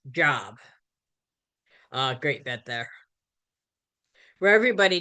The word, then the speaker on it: Job: So after Carla leaves the room, Coach tells Cliff that the word is pronounced job.